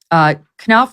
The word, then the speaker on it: Knopf: Sydney for the Invictus Games, Jason, is it Knopf? Is that how you pronounce his name? Knopf, yeah.